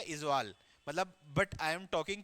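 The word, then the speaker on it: Aizawl: कैपिटल of Mizoram, आइजोल, इजवाल बोलते हैं usually हम, बट उसको स्पेल करेंगे आइजोल। हाँ, इजवाल बोलते हैं वैसे हम नॉर्मल। हाँ, इजवाल ही लिखना है। मतलब कैपिटल ऑफ मिजोरम है इजवाल, मतलब बट आई एम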